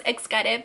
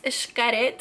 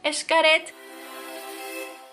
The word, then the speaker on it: Xcaret: I've been saying it wrong the whole time. I thought it was Xcaret, but apparently it's Xcaret or Xcaret.